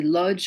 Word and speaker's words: Łódź: I don't know how you pronounce it. It's a Lodz or Łódź in Poland.